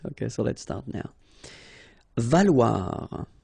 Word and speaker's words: valoir: Valoir. So remember, when you combine this O and E together, you get the sound wa. Okay, so valoir, valoir.